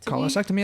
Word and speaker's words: cholecystectomy: Cholecystectomy.